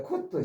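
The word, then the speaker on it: couth: 원래 쿠트, COUT. 쿠트 참 발음도 어렵고요.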